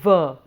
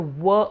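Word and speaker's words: व: la and the oo to a becomes a ver there are some people who tend to pronounce it as a were all the time but in the uh panini's grammar it is designated as a dhantosh which means that teeth have to come on the lips so it's a ver sound in certain contexts it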